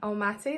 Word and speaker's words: Almaty: now it's Overland and sea and el mati el mati that's how you say it so it wasn't